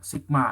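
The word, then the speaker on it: Σ: Jadi itu bacanya sigma ya.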